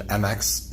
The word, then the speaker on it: Mx: it so for pronunciation mx is pronounced like mix like you're mixing things together so it's mixed sequel